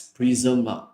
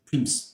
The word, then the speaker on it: prism: I remember it pronounced as prism. Okay. So I noticed some uh some student read it as prim.